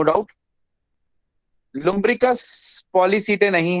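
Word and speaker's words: Polychaeta: Lumbricus पॉलीसीटे नहीं है, ये इसको पॉलीचीते नहीं, इसको एच साइलेंट पढ़ते हैं, तो पॉलीसीटे है।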